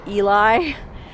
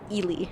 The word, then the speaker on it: Ely: which by the way you might be like me and think it's pronounced eli ila's come in had your hot girl but it's actually ely i learned that the